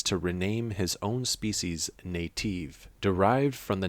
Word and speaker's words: Naytiba: Native, when pronounced in Korean, phonetically sounds like Naytiba, so Shift Up used this name as a replacement.